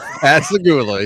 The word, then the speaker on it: Pascagoula: Pascagoula.